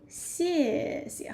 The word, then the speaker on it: 谢谢: So 谢谢, how to pronounce it? Falling tone.